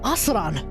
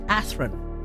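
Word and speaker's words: Athrun: We now need to introduce you to a guy by the name of Asran, or Athran, but I refuse to call him Athran because that's the dub name and it sounds shit.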